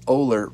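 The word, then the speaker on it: Oehler: the way pronounce it even though it sounds like Oller from what it's spelt so his name is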